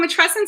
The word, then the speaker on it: matrescence: how to say it so it rhymes with adolescence so that that helps people sort of you know figure out how to say it um and it's very